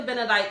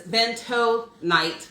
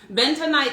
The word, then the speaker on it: bentonite: um that's what the benedike clay looks like now benedike clay is bento night clay i keep saying it wrong bentonite clay is very interesting